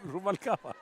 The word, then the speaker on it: Ruvalcaba: No, Ruvalcaba. You want me to pronounce the L or don't you? No, it's only one L. And don't forget to roll the R, Vic.